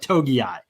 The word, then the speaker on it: Togiai: Another guy that would represent a change probably is Tommy Togiai. That's how you say it. Togiai.